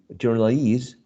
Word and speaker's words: journalese: So payee, employee, journalese, cigarette, and picturesque are interesting cases in which the stress shifts to a different syllable. But in this case, the stress syllable is the one which is the suffix, right?